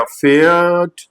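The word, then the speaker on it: Pferd: start हो रहा है तो पी को रीड नहीं करते हैं जैसे एक वर्ड है हमारे पास ये पी एफ ई आर डी तो यहां पर पी साइलेंट रहेगा आपका तो ये हो गया फेयर्ड लिस्ट लाइक दिस तो फेट मींस हॉर्स होता है और डी लास्ट में आर तो ट का साउंड आएगा फेट ऐसे ही एक वर्ड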